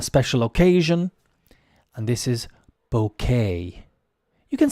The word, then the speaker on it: bouquet: occasion and this is bouquet you can say bouquet or you can say bouquet both acceptable a bouquet would be more proper pronunciation I think because it comes from the French into English and we haven't